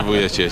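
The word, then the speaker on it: Vujačić: it on how do you say it Sasha vuic and uh I guess you've got a relationship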